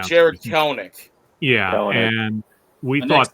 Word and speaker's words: Kelenic: I'm just grateful the Mets made the trade the year before where they traded away Jared Kolesnik, or I'm maybe mispronouncing. Yeah, Jared Kelenic.